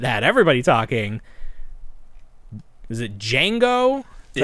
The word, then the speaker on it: Django: They had the aliens, but the item that had everybody talking, is it Django? Is that how you pronounce it?